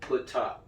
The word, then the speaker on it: Ptah: Ptah, this is PTH right here. Every time you see something like that, you're supposed to pronounce it out. It's not a damn abbreviation. You pronounce that. Ptah is the creator of the physical world.